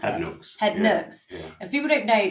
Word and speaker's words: Head Nooks: Is that how you pronounce it? Head Nooks. Head Nooks.